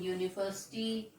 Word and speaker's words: university: So children, university, the sound is starting with a vowel U, but the pronunciation is university. Uni. So that's why the sound is starting with Y, so that's why we